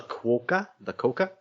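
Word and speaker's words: quokka: just like fear nothing it's spelled q-u-o-k-k-a so i'm guessing oh yes the coca that sounds like and they are in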